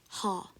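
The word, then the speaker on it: Х: it's called ha and it's supposed to be pronounced as the H sound the H sound in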